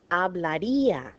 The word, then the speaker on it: hablaría: Okay, if this did not have an accent, this would be together, the I and the A, and this word would be pronounced hablaría on the second to last syllable.